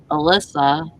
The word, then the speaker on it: Elisa: And then she told me, so it's Alyssa, but it's spelled Elisa.